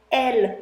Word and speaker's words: elles: If I had two of them, which I don't, I would say elles sont sur la table. So they are on the table. Elles, E-L-L-E-S, still don't pronounce the S, can also be used to replace two feminine noun subjects like people.